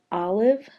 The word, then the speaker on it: olive: word the word is Olive this is not a long vowel sound it's saying if again so when I mark